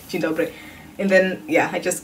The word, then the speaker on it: dzień dobry: You say dzień dobry.